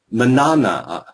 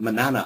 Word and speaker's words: Manana: And there's an island off the coast of Maine that I visited called Manana. How would the Americans say it? Manana. It's like saying banana.